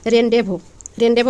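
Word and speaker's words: rendezvous: রেনডেজ, এটার হচ্ছে সঠিক উচ্চারণ হচ্ছে যে রেনডেভো অর্থ কি?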